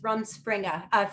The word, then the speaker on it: rumspringa: before called run springer um i may be mispronouncing it a little bit it's r u m s p r i n g a rum rumspringa uh it means interpreted running around